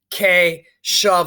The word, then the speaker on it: Keshav: I know with our family, it was hard to pronounce his name, Keshav. So the cousin taught us to pronounce his name by saying K shove, like K push.